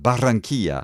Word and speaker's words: Barranquilla: pronounce. Barranquilla.